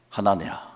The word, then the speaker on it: 하나냐: 하나냐 여호와라고 할 때 원래 히브리어는 야 발음입니다. 그래서 야 요호야입니다. 요호야 누구죠? 하나냐 야바람이 있거든요. 원래는 하나야입니다. 하난 하난 그니까 야가 들어갑니다. 여호와가 들어갑니다. 하나님을 사랑을 받는 자 하나야 얼마나 좋은 이름입니까?